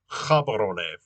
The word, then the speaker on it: Gaborone: And so you may be wondering what the capital is called then, is that this is pronounced Gaborone. So G is pronounced H in Setswana, and and then that